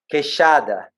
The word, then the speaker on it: queixada: Queixada.